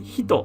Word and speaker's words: 人: being but this is a person and it's pronounced as hito by itself person some other words using this